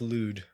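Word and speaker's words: Lod: tack uh and Robin was it ludd I think this pronounced ludd Robin lud is the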